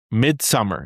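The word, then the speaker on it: Midsommar: So it's Midsummer is how you pronounce it.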